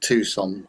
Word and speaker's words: Tucson: We won't mention it's pronounced Tucson then.